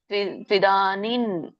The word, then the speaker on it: ತ್ವಿದಾನಿಂ: ಸೋ ಸುಖಂ ತ್ವಿದಾನಿಂ ತ್ರಿವಿಧಂ ಇಲ್ಲಿ ನೋಡಿ ತ್ದಾನಿಂ ಇದೆಯಲ್ಲ ಅಲ್ಲಿ ಕೂಡ ನನೇ ಬರುತ್ತೆ ಯಾಕಂದ್ರೆ ಮುಂದಿನ ಒಂದು ಅಕ್ಷರ ಏನಿದೆ ತ ಇದೆ ಅನುಸ್ವಾರದ ಮುಂದೆ ಸೊನ್ನೆ ಮುಂದೆ ಇರುವಂತ ಅಕ್ಷರ ಏನಿದೆ ತ ಇದೆ ಸೋ ಇಲ್ಲಿ ಕೂಡ ತ್ವಿದಾನಿನ್ ಅಂತ ಬರುತ್ತೆ ಸುಖಂ ತ್ವಿದಾನಿತ್ರಿವಿಧಂ ತಣೋಮೇ ಭರತರ್ಷಭ್ ಅಭ್ಯಾಸರಮತೇಯತ್ರ